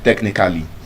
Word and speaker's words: technically: We say any word that ends with a L ly, you know, as an adverb, we say basically. Technically. Technically, just as a as as a cheat code, just know that a L l y just pronounce it as cle.